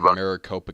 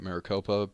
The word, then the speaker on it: Maricopa: of uh issues with the voting machines in Maricopa County I believe that's how you pronounce it right Maricopa but Peter uh says that the issue was